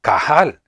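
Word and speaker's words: קָהָל: La palabra hebrea, que se pronuncia kahal, es equivalente a la palabra griega, que se pronuncia eclesia, que significa llamar juntos, o reunirse, juntarse, congregarse.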